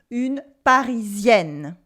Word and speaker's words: Parisienne: In French, words are stressed on their last syllable. So we say, for instance, une Parisienne, and not une Parisienne. Repeat after me, une Parisienne.